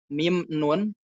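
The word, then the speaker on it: مِن: kalau misalkan mudahnya kalau minum beat depannya ada alaina min aina itu enggak boleh kita baca man aina tapi min aina dari mana tapi kalau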